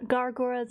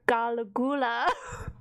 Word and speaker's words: Gura: between two languages and I mispronounced uh gar gura's name and I called her galula like I had like